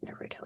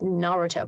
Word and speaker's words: Naruto: wrong spot like like it's Naruto but lots of people say Naruto but it's not Naruto it's Naruto because this emphasis is on the first syllable instead of the middle one which is what we're